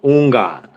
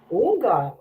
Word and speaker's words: Houngan: It's like the H is silent, so like Houngan. Houngan.